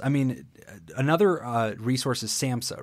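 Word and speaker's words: SAMHSA: yes s a m HS a yeah we pronounce it Samsa yep but that's a federal entity which actually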